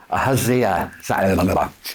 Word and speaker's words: Ahaziah: Ahaziah, A-H-A-Z-I-A-H.